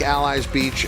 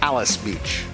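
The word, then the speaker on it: Alys Beach: Church Hill Downs I know it looks like allies Beach uh but Kate and Brar are informing us the correct pronunciation here is Alice Beach I believe that's her on the inside correct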